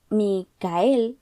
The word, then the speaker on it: Michael: Un chico de 17 llamado Micael, más bien, se escribe Michael, pero él dice Micael y su alias es Mika.